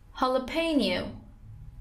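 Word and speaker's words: jalapeño: The next one is jalapeno. Jalapeno. فلفلی که خودمون میگیم فلفل هالوپینو. Jalapeno pepper. Once again, jalapeno pepper. Stress is on p. Jalapeno. کلمه هم که کلمه اسپانیایی هست.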